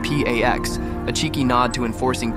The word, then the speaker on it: P4X: He chooses P4X, pronounced P AX, a cheeky nod to enforcing peace through punishment.